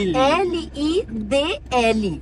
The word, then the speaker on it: Lidl: Europa que é o lead. Isso é o lead. Então bom, tem gente que pronuncia diferente porque ele se chama L I D L. É Lil que diz Lidl ou algo mais ou menos.